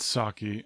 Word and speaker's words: psake: but I'm assured that the correct pronunciation is sake like the Japanese wine think like you're pronouncing